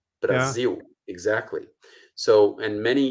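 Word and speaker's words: Brasil: short u like say Brazil Brazil exactly so and many even though you write an L you pronounce it like a u you say Brazil so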